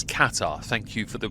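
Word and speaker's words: Qatar: I originally said Katar and people corrected me and said it's Katar. Thank you for the pronunciation correction.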